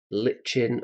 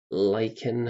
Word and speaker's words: Lichen: And we're going to use hexed lichen or lichen, however you want to pronounce it.